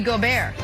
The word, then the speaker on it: Gobert: Also, guys, important to note, fun fact, in French, Rudy Gobert is pronounced Rudy Gobert.